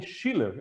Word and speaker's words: Schiller: Hoje nós temos a alegria, como dissemos, de ter conosco a Schiller. É assim que pronuncia, o Schiller? Sim, é assim mesmo.